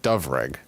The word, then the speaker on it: Dyfrig: Dyfrig is said like Dovrig.